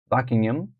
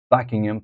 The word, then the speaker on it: Buckingham: a is asking us to underline the stressed syllable in the bold words for example Buckingham Palace Buckingham Buckingham Palace the back Palace is stressed the Westminster